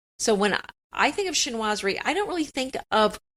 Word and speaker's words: chinoiserie: We know how to say it now. It's chinoiserie.